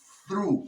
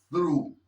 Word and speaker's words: through: Through, como si dijeras Zaragoza, esa Z, through, through.